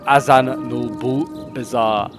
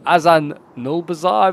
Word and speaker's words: Azanulbizar: at the fields of Azan no bizar I could always Butch that name aan n Bazar I think is how you pronounce it like I said I